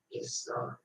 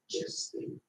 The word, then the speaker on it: gestae: The second word can be said as gestai or gesti, gestai or gesti.